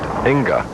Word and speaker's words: Inga: And a high hit leaving the 6-10, and his mother, her reaction, spelled I-N-B-A, but pronounced Inga Carlson.